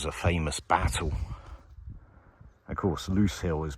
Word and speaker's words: Lose Hill: Of course, Loose Hill is pronounced loose, but it's spelt like lose.